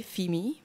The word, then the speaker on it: FIMI: I pronounce it like, I'll abbreviate it the German way, FIMI. It's probably like FIMI or something, I don't know.